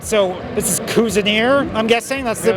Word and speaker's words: Cuisineer: All right, so this is Cuisineer, I'm guessing? That's the pronunciation? Cuisineer. Yeah, can you... Cuisine, but Musketeer, Cuisineer.